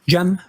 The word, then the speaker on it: Cem: Jee Mutlu.